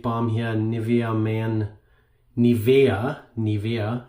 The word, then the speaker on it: Nivea: here Nivea man Nivea Nivea it's the German pronunciation this is a German